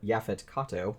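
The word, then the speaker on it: Yaphet Kotto: who is actually played by the great uh yafet Kato which I think is how you pronounce his name uh who will always be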